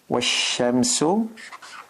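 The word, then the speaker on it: والشمس: If we have waw and then we have ash-shams, Washamsu.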